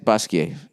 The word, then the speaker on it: Basquiat: that how you said basquiat yeah i've done that with my french studies you don't pronounce the t unless there's an e after it art world um i'm